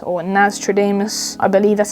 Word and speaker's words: Nastradamus: as I am and then we also have Nostradamus or nastradamus I believe that's how you pronounce it but yeah I'm sure most of